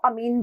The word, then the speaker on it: amine: कभी इसको एमीन पढ़ा जाता है, कभी कभी हम इसको अमीन भी पढ़ते हैं, ठीक है।